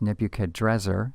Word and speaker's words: Nebuchadnezzar: Point 13 we have Babylonian Nebuchadnezzar sometimes uh spelled or pronounced nebuchadrezzar same individual he will